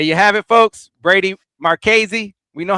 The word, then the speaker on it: Marchese: Brady Marchese. That's how you say his name. Tony DiChielli. We know how to say it. Brady Marchese.